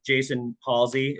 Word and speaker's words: Jason Halsey: Okay, so today I have Mr. Jason Halsey. Am I saying it right? Yes.